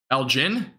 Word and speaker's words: Elgin: And yeah, a lot of dangerous storms obviously, but Elgin? Okay, cool, thank you. Thank you. Appreciate it. I was close. I just pronounced the G wrong. That was basically about it.